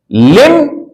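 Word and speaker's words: limb: तरह से य पर एल आई एम बी लिम उसके साथ एस जोड़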